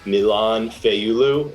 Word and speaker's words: Milain Fayulu: and today i have with me special guest milan feiyulu am i pronouncing that right yup that's pretty right awesome